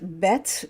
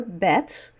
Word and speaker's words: Bet: So when you have the letter Bet with the dot, the dagesh, in the middle there, it's pronounced as English B, B, B, B.